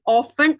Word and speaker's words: often: Okay, often ആണ്. ഈ ഒരു സ്ഥലത്ത് എന്താണ്? ടി കംപ്ലീറ്റ്ലി സൈലന്റ് ആണ്.